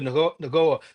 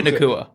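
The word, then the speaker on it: Nacua: cover Devonte and who's going to cover Puka Naga. No, I'm going to I butchered his name, but you know what I'm talking about. Puka Nua.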